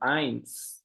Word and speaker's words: eins: Lembrando, então, esse EI do alemão, igual do eins, ele tem som de AI.